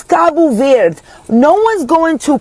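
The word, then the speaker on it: Cabo Verde: And if I'm going to say kabu ver I will say kabu ver. I'm not going to be like kabu ver like the what are we doing with the d. It's kabu ver.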